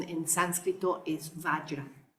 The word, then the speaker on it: vajra: Aquí lo escribí como yo lo pronuncio, vajra, como si la J, en lugar de ser J, fuera una Y, vajra. Porque hay gente que dice vajra, pero al menos en sánscrito, su pronunciación en sánscrito es vajra.